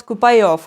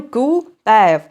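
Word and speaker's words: kuupäev: це дата купеєв купеєв Я завжди коли його хочу сказати я намагаюся вимовити Щось на кшталт купайов купайов купайов Але ж він купеев і там ще складно е те що багато голосних і одна з них це оця моя улюблена е яку я ніяк не можу вірно вимовляти і коли купеєв мені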